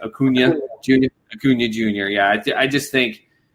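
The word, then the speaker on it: Acuña: And I always pronounce his name wrong, but Ronald, how the hell do you pronounce his last name? Acuna Jr.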